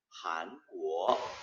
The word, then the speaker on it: 韩国: 다음 3 요거 韩国，韩国， 네, 우리 한국 코리아를 중국 발음으로는 한국 해서 둘 다 이성으로 끝을 올립니다.